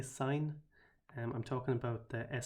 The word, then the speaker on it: sin: at the start and sin here is short for sine and that's the reason that I pronounced the sin there as sine cos is short for